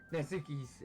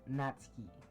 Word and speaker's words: Natsuki: Natsuki's head suddenly perks up.